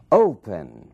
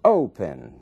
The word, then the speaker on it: open: dobra a letra whispering Open Opening mesmo caso Open ali na primeira sílaba é que está a força dessa palavra aqui está a sílaba